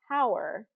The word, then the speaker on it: hour: And so instead of saying honor, hour, you wouldn't say that. And I looked up the why this is and why we do this silent H on some of these words, and it really just